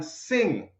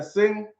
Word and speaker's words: Singh: I'm not sing, I'm not sigh. I'm sang, or I don't know. The people them say sing, so it's sing it's going to be.